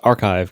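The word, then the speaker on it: arXiv: It's pronounced archive, Casey.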